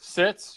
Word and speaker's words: Sitz: Sitz, you're right.